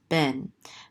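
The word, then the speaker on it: בן: Okay, and we have another bet here with a segol, so this is be, and this nun sofit closes out that syllable, so this is ben.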